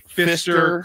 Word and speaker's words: Pfister: Fister? Yeah, absolutely. So good. And it's spelled Pfister.